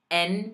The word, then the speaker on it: en: En means in. But I hear every possible pronunciation for it. I hear on. Like there's some French pronunciations. It's en. En. Enero.